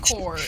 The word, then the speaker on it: corps: That does sound like an It's drum corps, and it's not spelled CORE. It's spelled like corpse.